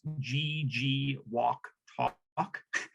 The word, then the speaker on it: Jijuktu'kwejk: uh understanding it's pronounced gg walk talk you kind of just say it all together so the g2 walktalk